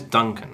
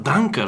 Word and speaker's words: Duncan: But in Japan, I say my name's Duncan. And then 90% Japanese people say, "Oh, Danka, like German. Are you German?"